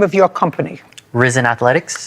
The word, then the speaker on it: Rizin: Risen Athletics. Reason? Risen. Risen. Spell it.